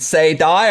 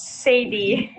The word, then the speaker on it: Saydie: do you pronounce it is it say die or is it satire it's sadie mercedes okay sorry about that